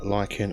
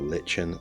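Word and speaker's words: lichen: edge or plants likewise a bit of a Lykan or Lin depending on your pronunciation it's just the same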